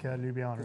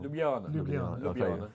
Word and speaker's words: Ljubljana: It's not on the coast like Ljubljana is.